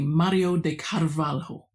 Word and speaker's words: Mario de Carvalho: Mario de Carvalo. So the accent on the second syllable.